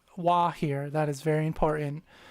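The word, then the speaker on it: は: Ha is pronounced W. Wah here.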